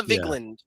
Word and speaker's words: Vigland: So, also, have you seen the clip of Emma Vigiland? Is it Vigiland? Is that how you pronounce it? The Majority Report. Vigand. Emma Vigland from the Majority Report.